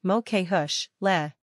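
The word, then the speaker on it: mo chuisle: to start the word the ush part rhymes with push the loo at the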